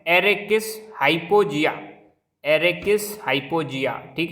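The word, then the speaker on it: Arachis hypogaea: तो मूंगफली, तो मूंगफली का साइंटिफिक नेम इसको कैसे प्रोनाउंस करेंगे? एरेकिस, इसको पढ़ रहा हूँ मैं, एरेकिस हाइपोजिया।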